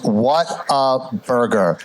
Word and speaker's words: Whataburger: what's what's a burger but it is what a burger three syllables four syllables yeah yeah it's a